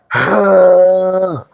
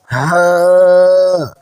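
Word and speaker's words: ه: এটি মাখরাজ হলো আমাদের হলক বা কণ্ঠনালীর একদম শেষ মাথা থেকে উচ্চারণ করতে হবে, অর্থাৎ বুকের গভীর থেকে এটি খুব স্বাভাবিকভাবে একটা দীর্ঘ শ্বাস ছাড়ার মতো করে উচ্চারণ করতে হবে। গলার কোথাও কোনো চাপ লাগবে না।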